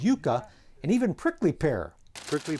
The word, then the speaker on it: yucca: His lunchtime snacks included corn nuts, the root of the yucca plant, which natives pronounce as yucca, and even prickly pear.